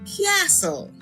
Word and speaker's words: castle: That means that the C has the hard sound. This word is castle.